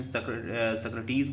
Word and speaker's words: Socrates: Guys देखें कि सोक्रेट्स जो थे, हालांकि हिंदी में सुकरात कहते हैं, बहुत जगह इसका प्रोनाउंसिएशन सक्रटीज़ कहते हैं, तो जैसा भी आप प्रोनाउंस कर लें।